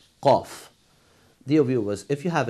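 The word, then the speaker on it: ق: The next letter, that is letter qaf. Of course, qaf is one of the Lahawi letters, and we use the uvula for the pronunciation of this letter.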